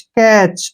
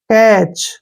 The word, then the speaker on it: catch: जैसे CATCH, यहाँ पर फिर से TCH आया है तो टी को छोड़ देंगे, CACH, कैच। क्या पढ़ेंगे इसको? कैच।